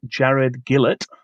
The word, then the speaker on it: Gillett: That's Australian Jared Gillett. That's how you pronounce it.